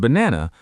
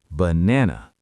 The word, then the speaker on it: banana: And banana. Only the middle A is a real A. The other two are schwas. Banana.